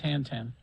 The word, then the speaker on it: Tintin: strip The Adventures of Tintin oh from Tintin that's it or tent I think that is is is that how they say it t Tenten I believe that's how they say it in France it's FR French T